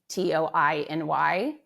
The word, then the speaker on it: Toiny: It's spelled t o i n y, like Tony. Yes.